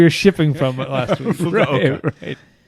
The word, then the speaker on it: Fukuoka: we know how to pronounce it correctly now? Fukuoka.